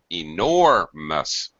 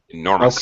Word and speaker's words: enormous: Pronunciation, enormous. No. Please reduce the stress of the last syllable. Enormous. It's a very fast, unstressed syllable. Enormous.